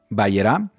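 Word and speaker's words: Vayera: la torá llamada vallera Así es como se escribe en la Biblia hebrea se pronuncia vaerá y se traduce como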